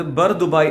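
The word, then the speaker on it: Bur Dubai: A boat ride at ബുർ ദുബായ് അത് ബർ ദുബായ് എന്നാണ് ഉച്ചാരണം കാണിക്കുന്നത് സോ ബർ ദുബായ് ലേറ്റ്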